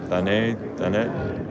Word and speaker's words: Thanet: Thanet. Made in the UK, so I guess the T would be pronounced.